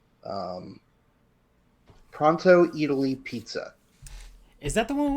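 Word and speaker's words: Eataly: Um it's called Pronto Italy. Uh and I'm I'm not mispronouncing it. It's just a pun. It's It's like Italy except it's E A T A L Y. Yep. Italy.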